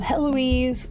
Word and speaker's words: Heloise: Pronounce Heloise like Eloise, but with an H at the beginning. Heloise. You stand in the last home of Heloise Corbeau, one-time jewel and one-time blade of the court of France.